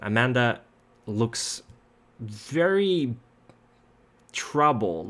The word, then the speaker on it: Amanda: And you walk for a little bit, and Amanda. God, I keep saying Amanda. This is a Swedish pronunciation. Amanda looks very troubled.